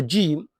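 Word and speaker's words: جيم: For Jim, the sound is produced from the middle of the tongue as it rises toward the middle of the roof of the mouth. Keep your mouth relaxed and let the sound come out naturally.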